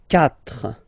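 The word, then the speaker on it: quatre: final S not pronounced catra catra okay so remember that even if you've got this vowel here basically you don't pronounce it because that's the rule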